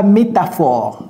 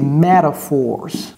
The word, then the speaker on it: metaphor: Ne dites pas métaphore, ok? C'est metaphors.